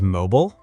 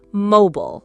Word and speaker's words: mobile: And mobile? In America, mobile, like the phone. In Britain, mobile or mobile. Mobile.